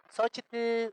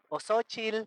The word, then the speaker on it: xochitl: Decimos xochitl o xochil porque no sabemos decirlo correctamente. Pero se tiene que decir con la X, xo, y con TL al final.